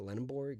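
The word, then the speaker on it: Lendeborg: That's what Yaxel Lenborg, right? That's how you say it, Lenborg.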